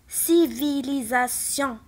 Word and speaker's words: civilisation: اول كلمه عندنا سي من موراها اي، دونك غادي تنطق اس civilisation.